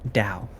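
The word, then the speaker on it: Dow: you spell that d-o-w i think we would pronounce that dao oh or very powerful people you know either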